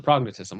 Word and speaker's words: prognathism: I think you're putting the wrong emphasis on the wrong syllable. Yeah, well, I was thinking thism, but it's tism, prognatism.